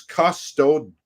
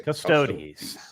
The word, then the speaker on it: Custodes: narrating these super chats, T-Neil89 points out Andre pronunciation here is Custodes. Is that about that right, is correct. Arch? Okay. Custodes.